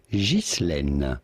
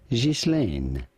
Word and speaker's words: Ghislaine: Now in French, this is normally pronounced Ghislaine. Ghislaine is how it would be said in France. However, in English, pronounced Ghislaine. Ghislaine. Ghislaine is how it would be said in France. However, in English, it is generally said Ghislaine.